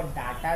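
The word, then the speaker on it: data: हैं उस जानकारी को डेटा कहते हैं। कुछ लोग इसको डाटा भी बोलता है, बट गलत प्रोनाउंसिएशन है, इसको डेटा ही बोलना चाहिए।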